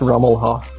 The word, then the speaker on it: Rummelhoff: marketplace I'd like to introduce everybody to David rhew mohawk am i pronouncing that right it's rummel HOF Omaha yay so tell us a little bit